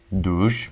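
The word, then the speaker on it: dur: Yep, this stop sign, which is pronounced duj, is exclusive to Turkey. Instead of saying stop, it's duj.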